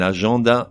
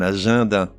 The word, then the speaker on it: agenda: le mois de juin un agenda mais un agenda donc tu es mais